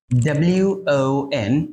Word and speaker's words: won: ONA যার অর্থ হচ্ছে এক, আবার WON যার অর্থ হচ্ছে জিতেছে। উইনের পাস্ট টেন্স, রাইট? এটা কিন্তু খুবই কনফিউজিং এবং অনেকেই এটা নিয়ে কনফিউজড হয়ে যায়। অলরাইট, সো এই দুইটারই উচ্চারণ কিন্তু আসলে won, won, won.